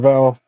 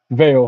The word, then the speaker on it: Veil: Observer, thanks for admiring my singing, Val. I cringed at it still to this day. Is it Val or Veil? Veil. I'm sorry.